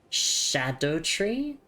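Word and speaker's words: Scadutree: But I'm just thinking Oh, notice despite the spelling schedule is pronounced like shadow. Oh, wait. Really? So like shadow tree.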